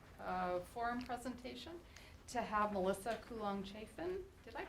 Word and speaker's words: Coolong-Chaffin: So we're very fortunate in our pre-spring break forum presentation to have Melissa Coolong-Chaffin. Did I pronounce that right?